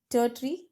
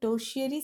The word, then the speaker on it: tertiary: टर्टरी sector, टर्टरी sector या टर्शियरी sector, इसको ज़्यादा सही होगा प्रोनाउंस करना, कि आप इसको बोल सकते हो टर्शियरी सेक्टर।